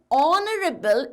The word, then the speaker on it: honorable: before honorable right because honorable is pronounced within a vowel sound not honorable no kids though it is with an h the h is silent so we are going